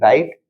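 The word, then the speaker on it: write: इसको रेस्ट ध्यान रखिएगा जब भी डब्लू हो डब्लू के बाद आर हो तो वहां पर डब् का प्रोनंसिएशन नहीं होता है साउंड नहीं आता है साउंड किसका आता है जो उसके बाद आर रहता है उसका मतलब जैसे हमने इसमें देखा डब्लू आर आटी राइट यहां देखा डब्लू आर ओ एनजी रंग और यहां देखा डब्लू आर आई एस T rest अब यहां पे नेक्स्ट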